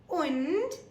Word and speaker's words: und: 3 and 20 so and in German is pronounced as un u n un so after we've